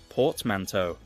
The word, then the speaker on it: portmanteau: Portmanteau.